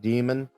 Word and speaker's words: daemon: is in latin but its pronunciation is exactly the same as it as in english because if you look